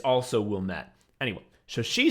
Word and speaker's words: Wilmette: So everybody knows that it's also Wilmette. Anyway. So she says, our teacher, who we all hate, she's like, actually, the correct pronunciation of the French name from which Wilmette derives the town's name is Ouilime.